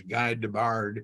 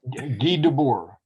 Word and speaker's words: Guy Debord: There was a tremendous, the guy, you pronounce his name, to me, it was Guy Debord, but Guy Debord.